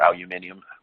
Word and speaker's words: aluminium: plate uh foils or using uh aluminum or aluminium however you pronounce it foils uh you do there those